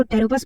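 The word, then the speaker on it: Pteropus: इसको टेरोपस pronounce करते हैं।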